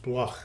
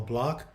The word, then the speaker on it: Bloch: last name you know my last name is actually german it's pronounced bloch but we we basically uh call block so when i was